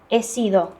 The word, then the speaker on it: he sido: H, первая буква не читается, Исидо. поэтому стало Можно Исида. начало тут. Да. Ага, sido это от глагола ser. He sido.